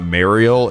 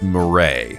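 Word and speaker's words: Mireille: By the way, yes, told me that her name is not pronounced. It's not Mariel. It's Murray. That's how you say her name.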